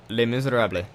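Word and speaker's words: Les Misérables: I'm a big music person and L miserab Le Miser is how you say it and it directly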